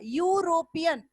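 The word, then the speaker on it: European: क्योंकि यूरोपियन ये तो है वॉवेल लेकिन इसका प्रोनाउंसिएशन जो है वो य से शुरू हो रहा है, यूरोपियन, और य शब्द जो है वो क्या है, कॉन्सोनेंट है, इसलिए आप इसके पहले ए का यूज किए।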